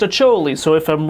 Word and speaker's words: Acholi: did research this time everybody says it's pronounced a choli so if I'm wrong